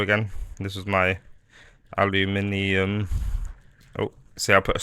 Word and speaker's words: aluminium: Aluminum, as you Americans say it, but I say aluminium.